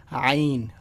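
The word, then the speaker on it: عين: comes आइन ठीक है आइन is some how अ अ bit difficult letter to pronounce थोड़ा सा मुश्किल है it's like I ई आई एन और आपको थोड़ा सा ना गले से बोलना पड़ता है आईन आईन ठीक है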